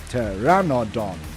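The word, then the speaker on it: Pteranodon: It's a PT and a P is silent. So it's a T.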